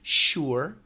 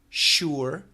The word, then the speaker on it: sure: The perfect pronunciation would be sure. Sure. Sure. Almost two syllables, right? Sure. Sure. But most Americans will simply say sure. Sure. Sure. Like sher.